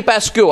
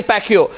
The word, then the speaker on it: Pacquiao: you know uh the uh uh Manny Manny pascu I think I've got pronunciation in correct there Manny Pacquiao he had a 8-year endorsement engagement with Nike